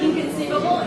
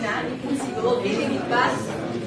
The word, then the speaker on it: inconceivable: Every syllable receives a different pitch, right? It's not inconceivable, right? Inconceivable, inconceivable.